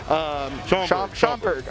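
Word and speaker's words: Schaumburg: They've even got one already set up in, and I'm pretty sure I've been mispronouncing it every single time, but it's Schwamberg, I believe. Schomburg.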